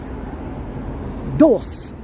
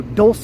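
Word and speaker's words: Dolce: Dos and Gabbana. Yes, I know that's how you don't pronounce those, but that's how I choose to pronounce it. Let's go to Dulce and Gabbana.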